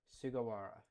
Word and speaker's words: Sugawara: It's Sugawara, which is exactly what I thought. Sugawara.